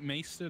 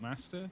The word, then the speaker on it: maester: Isn't it Maester, not Master? Did I say Master?